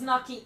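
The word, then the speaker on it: gnocchi: You don't pronounce the G. It's knocky.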